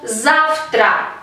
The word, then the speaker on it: завтра: Esta palabra se escribe con la letra V, pero como después de letra V va una consonante sorda que es T, por lo tanto esta consonante sorda T contagia a nuestra consonante V y se convierte en su pareja sorda F, завтра, завтра.